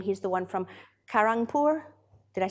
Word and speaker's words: Kharagpur: it's a common name he's the one from Kharagpur did I say it right yes I'm poor